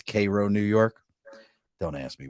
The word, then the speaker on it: Cairo: There's a city right next to me that's spelled exactly the same as Cairo. You know what they call it? Cairo.